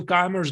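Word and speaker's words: Keymer: is in German language, and Keimer is in English language, but we are just trying to pronounce it correctly. So maybe, yeah, we indeed can stick to his German language, Keimer, so be it.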